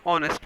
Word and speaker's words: honest: alphabet are consonants so h is silent but it is giving the sound of a vowel you will use and